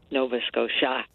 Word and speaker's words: Nova Scotia: And I liked being able to pronounce Nova Scotia, but the accent I put on the first syllable so that it would rhyme. Nova Scotia, Saratoga, Saratoga. But I always like to